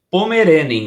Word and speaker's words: Pommerening: estar aqui com vocês pastor é pomerening né Isso é pomeren É isso aí a pronúncia né é errado acertamos você acertou eu eu falava antes comer em mim e é também pode ser também desde que pronuncie todas as sílabas o pastor primeiramente é